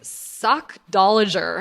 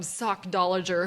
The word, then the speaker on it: sockdolager: It is Sockdolager. Have you ever heard this word? Like, where do these freaking words come from? Sockdolager. Who even says that? Sockdolager, it's spelled exactly how it sounds, means an exceptional person or thing.